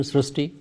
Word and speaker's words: Srushti: We have heard of Srishti, but this is a very unique name, Srishti. So in Marathi, the word Ri is pronounced as Ru. So that is why the pronunciation goes Srishti.